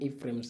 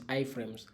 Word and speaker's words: iframes: frames rather iframes so i am used to calling them a frames anyway that's why but the right pronunciation is iframes so a link allows